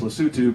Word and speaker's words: Lesotho: It looks like Lesotho. The right. Tribe is Basotho. And they speak Sesotho, but it's actually pronounced Lesotho, Basotho, and Sesotho, which I learned once I got on the ground there.